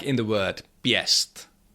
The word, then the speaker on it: pěst: If hatcham follows another consonant which is not affected by that it is pronounced yeah like in the word piest pest that means a fist.